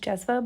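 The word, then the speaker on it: džezva: I believe it's spelled D. There's like a specific sound in like the Balkans language. It's pronounced jezva, but it starts with a D.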